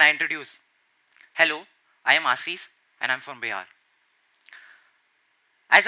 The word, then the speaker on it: Ashish: friend told me that your name is Ashish and not Ashish. It was kind of strange to know that I was pronouncing even my own name incorrectly for 15 years. For those of you who have been to Bihar would know that we pronounce S instead of SH. So for Sham, we would say Sam.